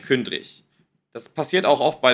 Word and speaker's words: Kündrig: ausgesprochen wird, ja, also ihr hört hier den Namen Kündrik mit G geschrieben. Und ihr hört aber ein Kündrich.